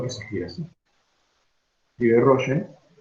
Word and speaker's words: Rolle: Escribe Rolle y se pronuncia Rolle.